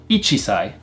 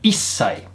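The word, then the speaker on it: 一歳: 1 year old is not ichisai, but issai. We drop off the chi sound and we make the s sound a little bit longer. So issai is 1 year old.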